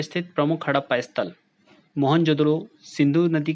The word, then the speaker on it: मोहनजोदड़ो: मोहनजोदड़ो भी कहते हैं मोहनजोदड़ों मोहनजोदड़ों शब्दों का सही उच्चारण मोहनजोदड़ों होता है जिसका सिंधी भाषा में